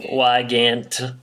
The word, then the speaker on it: Wygant: Lester played by Jean Wygant too why can't why don't you pronounce his name why Gant actor 18 credits to